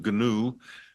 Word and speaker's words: GNU: gnu radio project and forgive me for using the name ganu pronouncing it that way it's not the animal it it's actually ganu is not Unix are we seeing everything